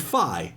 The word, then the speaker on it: Figh: you're like fee and phi and it's spelled f-i-e-e pronounced fee and phi f i g h like psi with an f and you know this